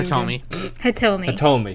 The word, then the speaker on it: Hitomi: Hitomi.